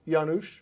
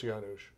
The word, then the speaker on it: Janusz: to ask well with Janice Janice Janusz no I think it's Janos okay I probably pronounced